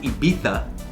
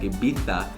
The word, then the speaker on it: Ibiza: So where I stayed in Ibiza, and they pronounce it Ibiza, they have like a lisp a little bit, like Ibiza, because I'm American, Ibiza.